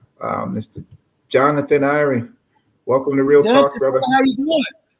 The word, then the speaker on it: Iwry: It's a German W or a Russian W, and so it's pronounced like a V, and Iwry means Hebrew in Hebrew.